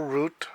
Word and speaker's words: route: Railroad otherwise known as the Burlington Route or route however you like to pronounce it uh is credited with